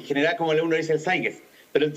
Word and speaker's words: Zeitgeist: como uno dice el zeitgeist, pero el zeitgeist, que sería como la pronunciación alemana correcta, estoy casado con un alemán, así que si no me llega el charchazo después, pues no.